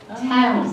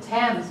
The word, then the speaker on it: Thames: so long ago that that is the reason that the River Thames is pronounced times instead of things because